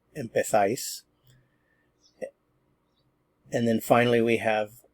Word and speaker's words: empezáis: Remember, this is in Spain and they would pronounce it empezáis.